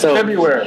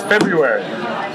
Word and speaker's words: February: before the r it's February it's February February cuz there's an R everyone drops the r how are you guys